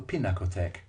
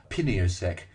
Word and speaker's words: Pinakothek: to what the Munichers prefer to call the Pinakothek. We could never pronounce Pinakothek properly. We called it Piniosek, Pintaktek, and the Happy Tack.